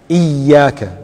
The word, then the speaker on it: إياك: If there is Shadda, for example, Iyaka, not Iyaka. Make sure Iyaka na'budu wa Iyaka nasta'in.